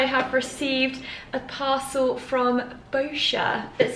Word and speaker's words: Boscia: of days i think how to pronounce bosskia boscia not bosskia i'm really glad i